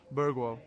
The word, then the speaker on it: Bergvall: Lucas Bergwall. Yeah, because you pronounce it the way the person says it should be pronounced.